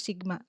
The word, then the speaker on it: sigma: Jadi bentuk ini dibacanya sigma gitu ya.